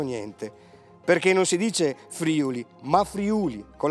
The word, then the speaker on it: Friuli: Ah, Belluno, dicono immancabilmente, è in Friuli, vero? E invece non è vero niente, perché non si dice Friuli, ma Friuli, con l'accento sulla U, e soprattutto perché Belluno non si trova affatto in Friuli.